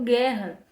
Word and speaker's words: guerra: Eu não ouço em nenhum momento a letrinha U. Eu não vejo guerra. Eu não falo guerra, eu falo guerra.